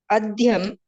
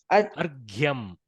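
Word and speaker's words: अर्घ्यम्: Raghuhu Mrittika Patrena Adhyam. Argyam. See, the repa leads first. This top hook is the first pronounced. G, y, a, m. So, argyam. Yes.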